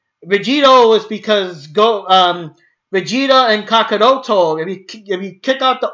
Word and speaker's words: Kakarot: and of course Vegeta always calls him Kakarot or Kakaroto, Kakaroto, And that was a weird thing. I'm so used to, especially since that's all Brawly literally says in the other movies. I am so used to Kakaroto that it's just weird to skip out the extra O.